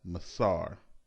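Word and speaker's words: מעשר: its meaning from the Hebrew word which is pronounced as Messara the word masoor is translated as tithe throughout the entire Bible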